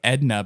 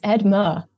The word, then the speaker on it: Edma: I want to say like Edna, but it's not. It's Edma. Edma.